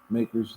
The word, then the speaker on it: MACRS: we've had the ma CRS makers macers it's pronounced makers they said the consequence of urban subnackers so